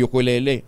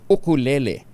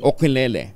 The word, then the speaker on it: ukulele: pagamit natin ng ukulele lagi natin pin pronounce yukulele ukulele ayan yun ba tamang pronounce ukulele po ukulele po oo sige nga Ayan po